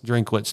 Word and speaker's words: Drinkwitz: You've got two guys in Sam Horn and Bo Prabula, which both of those guys, Coach, I cannot pronounce his last name. Drinkwitz, there you go.